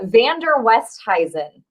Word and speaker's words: Van Der Westhuizen: too much sure uh vander westheisen is how you pronounce it see i would